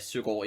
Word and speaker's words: Søgaard: Matt Søgaard in Danish, and I'm going to pronounce him that way from now on, and just for the record.